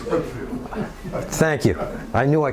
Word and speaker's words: Whitefield: And it's Whitfield. I said Whitefield, didn't I? It is. Pronunciation is Whitfield.